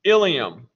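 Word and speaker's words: ileum: intestine is called the ilium make sure you get the spelling of this correct there's another structure that's pronounced the same way that's spelled i-l-i-u-m and that's part of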